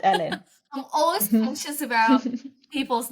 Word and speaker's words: Elin: pronouncing your name right is it Ellen or elen no you pronounced it perfectly ah okay it's Ellen I'm always conscious about